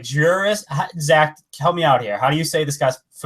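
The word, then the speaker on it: Jeurys: It's like Juris. Zach, help me out here. How do you say this guy's Familia? Juris.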